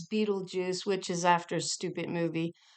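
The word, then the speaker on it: Betelgeuse: wink um and uh yes I know the proper pronunciation today is Beetle Juice which is after stupid movie um but years ago uh it used to be pronounced to my understanding Bal go and I believe there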